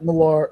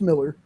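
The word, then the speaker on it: Millar: book, man, that it's Mark Malar Miller. Miller, I'm sorry. It's actually pronounced Miller.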